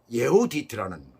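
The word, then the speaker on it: יְהוּדִית: 한 사람의 이름은 유딧, 예후디트라는 그런 발음이에요. 히브리어로.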